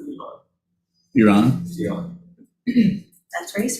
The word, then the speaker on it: Iran: In the language, we pronounce it Iran.